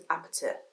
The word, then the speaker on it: APT.: Song of the Year, perhaps Anxiety or Apt. How are you guys pronouncing this? Because in the song it's Apte. Apte.